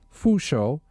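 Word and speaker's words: 佛手: The pronunciation of the term for Buddha's hand, fu shou, sounds like the words for blessings and longevity.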